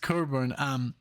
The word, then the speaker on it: Cockburn: I remember saying Cockburn, and everybody was like, "It's not pronounced that way." Well, why is it written that way? It's so funny. But no, it's Cockburn, pronounced Cockburn.